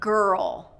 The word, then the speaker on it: girl: The next one is ger-ul. Same idea. We have ger, and then we have ul. Drop into that dark L.